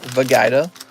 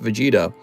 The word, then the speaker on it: Vegeta: for reals for realsies it's pronounced vegada why thank you some of these guys don't know it's pronounced for gaida they think it's pronounced vegeta so we gotta correct them